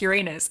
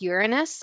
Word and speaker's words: Uranus: name Uranus funny, but when the teachers properly pronounced it as Uranus, I found that funny because, like, Urine's pee. Because Uranus was so over my head, I guess.